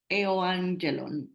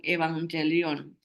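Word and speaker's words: εὐαγγέλιον: viene del griego y aquí está la palabra eh griega que se puede pronunciar como e angelon e angelón algunos hermanos lo llaman evangelion el evangel Leon el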